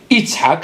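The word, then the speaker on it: יצחק: Ishaq, il lui a dit, Ishaq, il peut se prononcer Yitzhak avec Tzadik, et Ishaq, c'est écrit dans Oudou, Hachem Ishba'at Ishaq, Shin.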